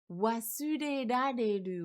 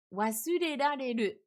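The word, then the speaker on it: 忘れられる: Il est pas facile à prononcer, hein. Vous pouvez essayer à voix haute chez vous. Wasurerareru. Là, pour les personnes qui n'arrivent pas encore bien à prononcer le R, c'est un vrai challenge.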